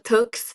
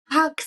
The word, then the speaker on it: Tugs: I put with my first initial Tux, but then everybody Uh, was like pronouncing Tux. I'm like, no, no, no, it's Tux, but then it's overall it's not that good for brand name as well.